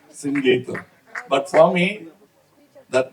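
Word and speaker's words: Singeetham: In Tamil Nadu, he used to get very upset because they Mr. Sangeetham. No, it is SingGeetham, please.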